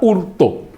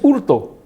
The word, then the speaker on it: hurto: ahí viene la palabra hurto desapareció la efe y se le puso una h que no tiene h muda que no tienen un sentido y es hurto fortune sustracción de una